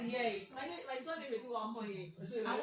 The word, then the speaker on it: Uwakhonye: My surname is Uwakhonye. And one thing interesting about my surname is that you actually need to smile to get it right.